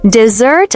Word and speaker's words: dessert: Dessert with a stress on the second syllable means sweet food like cake or ice cream.